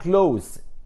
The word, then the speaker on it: close: close، خلي بالكم انا بنطقها close اس، هي نفس الكلمة بتاعت close، يغلق، يقفل الباب.